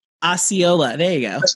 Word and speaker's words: Osceola: i'll pull up my property sheet um o-s-e-c-o-l-a osceola osceola there you go it's spelled well sorry guys you know anyway so